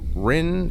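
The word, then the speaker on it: Rinn: Rin, is that how you say her name? Rin, yep.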